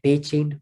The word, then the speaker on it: Beitine: wrote it down there, reflecting probably the Irish form Beitine, which would be pronounced something like Beitin in Southeast Ulster Irish.